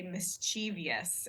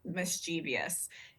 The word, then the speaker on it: mischievous: a word uh like I tend to Say mischievous is how my pronunciation of the word mischievous uh that is not the standard pronunciation the standard pronunciation is mischievous and uh there are